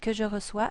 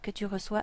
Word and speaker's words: reçois: This is pronounced que je reçois, que tu reçois, qu'il reçoit. This word, and this word are all pronounced the same.